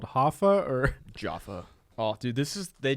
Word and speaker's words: Jaffa: here wait listen oh jaffa jaffa okay but she's saying that like an american though well i don't think they just oh british pronunciation here i can change her voice jaffa